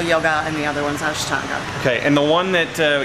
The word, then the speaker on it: Ashtanga: film part of the Ashtanga yoga class. Did I pronounce that right? Yes, you did.